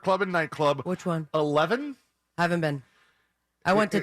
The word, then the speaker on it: E11EVEN: 11?